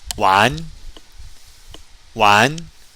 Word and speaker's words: 玩: 玩, 玩, meaning to have fun or to play. And if you're in northern China, you'll hear it pronounced with an R at the end.